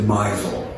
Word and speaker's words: Mizell: And my grandfather was illiterate and he didn't understand phonetics, so he pronounced it Mizell.